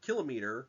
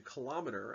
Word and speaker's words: kilometer: As a side note, the word kilometer is used a lot in everyday speech and has kind of evolved into kilometer as a common alternative pronunciation, similar to words like thermometer and odometer. Either pronunciation is fine.